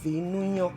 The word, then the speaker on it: Vinyo: actually pronounced Vinunyo.